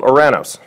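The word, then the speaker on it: Ouranos: sky before ensues there was a Titan called or a nose and that's how you pronunciate it nowadays you call them Uranus take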